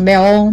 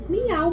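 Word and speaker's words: Meow: Eu sempre pronuncio o nome desse. É aí, ó, embaixo. Meol, meol, meol. Miau, mãe.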